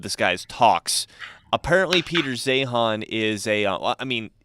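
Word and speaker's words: Zeihan: one of his books so this is Peter zahan and zehan is spelled z-e-i-h-a-n and the book is uh the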